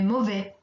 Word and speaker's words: mauvais: Here again, we don't pronounce the final S. Il fait mauvais.